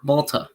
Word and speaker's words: Malta: What was it called again? Malta. Malta. Is that how you say it? Yeah. It's basic. It's Malta. Oh, Malta.